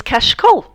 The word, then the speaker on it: cachecol: The word for scarf is cachecol. And the first time I heard this word, I thought, that sounds just like catch cold.